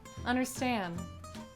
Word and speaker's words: understand: Whenever we have an N and a D or an N and a T, sometimes we just won't pronounce the T or the D, right?